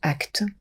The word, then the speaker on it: ACT: quelques mots sur l'acte l'acte c'est la thérapie d'acceptation et d'engagement que l'on prononce actes elle appartient au domaine